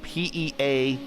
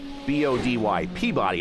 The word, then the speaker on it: Peabody: a town that is spelled Peabody. Peabody. I would say Peabody, right? Most everyone would say Peabody. No, that's Peabody. Peabody. How they get Peabody out of Peabody, I don't know.